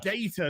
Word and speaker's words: Data: Wow, look how the data looks.